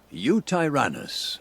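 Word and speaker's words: Yutyrannus: big boy the star of the show the Utah runnis right here how do you pronounce it you tyrannus correct okay um yeah the skin pattern's really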